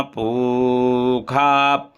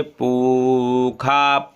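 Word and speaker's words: पूषा: बोला जाएगा स्वस्ति नाहा पखा यहां पर क्या बोलेंगे पखा वेद में यह मूर्धन्य सा जो आया है पखा पु के बाद यह हमेशा खा बोला जाता है कुछ जगह है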